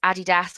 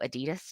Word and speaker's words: Adidas: Okay, the loyalty consumers have for brands such as Adidas or Adidas, depending on how you pronounce it, and Nike or